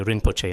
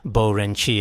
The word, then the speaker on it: 仁波切: places, people just say 'Rinpoche', 因为其他地方很多人都仁波切 but in some places I've visited, they even completely reverse the syllables and say it backwards, like 'Bo Ren qie' 有很多地方他们都经常相反什么波仁切 In many